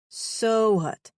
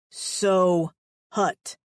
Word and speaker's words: Sohut: So what? He stressed his name. South. Your name is South. Frowning. He hit his chest with his palm. So hut. So what?